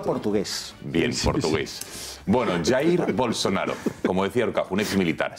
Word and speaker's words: Bolsonaro: ¿Cómo se pronuncia, por favor? Bolsonaro. Ah, Bolsonaro, perdona, bien. Portugués. Bueno, Jair, en es Brasil verdad. se habla portugués. Bien, portugués. Bueno, Jair Bolsonaro, como decía Horcajo, un exmilitar, 63 años, ya